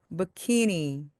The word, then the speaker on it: bikini: 이것은요, 영어로 bikini 또는 bikini라고 부릅니다. 키라고 하는 이 가운데 부분에 강세가 오기 때문에 앞에 부분이 소리가 죽습니다. 그래서 bikini 또는 bikini처럼 소리가 납니다.